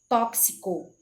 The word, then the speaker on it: tóxico: com ks por exemplo eu falo tóxico e a pronúncia correta seria com ks tóxico itu intoxicar seria intoxicar